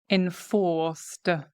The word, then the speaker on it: enforced: Enforced. It's got a D ending because here the C is pronounced enforced. We start engaging the vocal cords, right? In fact, it almost sounds like a Z sound, enforced.